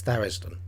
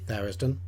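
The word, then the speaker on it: Tharizdun: eye on level two it's therisden definitely therisden you won't persuade me any differently on that one so what exactly is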